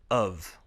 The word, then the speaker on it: have: When have comes after a word ending in a vowel sound, we pronounce it as the sound v.